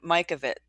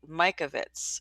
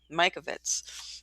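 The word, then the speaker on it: Mikovits: this is where doctor I've been pronouncing her name wrong Mike of it Mike Ovitz right Mike Ovitz this is where dr.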